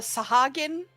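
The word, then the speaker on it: Sahuagin: Okay, if they when the Sahagin, because that's how it's actually pronounced, when the excuse me.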